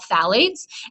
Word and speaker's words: phthalates: I know this is difficult to pronounce, but that's how you pronounce it. They're called phthalates.